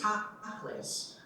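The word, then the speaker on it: תכלית: There's an interesting word that went from biblical Hebrew to Yiddish and back into contemporary Hebrew slang again, although maintaining its Yiddish pronunciation. The word is tachlis.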